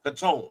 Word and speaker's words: Caton: Catone. Okay, Catone. That's how you pronounce it.